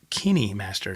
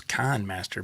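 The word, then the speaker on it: KineMaster: an app that that I use it's called Kinney Master now the way you look at it it doesn't seem like it'd be pronounced that way I thought it was kind Master but it's spelled k-i-n-e master and it's all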